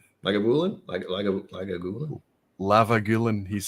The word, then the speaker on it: Lagavulin: Lavagulin. Lagavulin? Lagavulin? Lavagulin, he's saying. My favorite mispronunciation is Lavagulin. I was like, what? That's not how you say it, Roy.